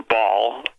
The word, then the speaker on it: Baal: openly announced that the temple of baal or ball like i could pronounce it bail b-a-a-l was coming to the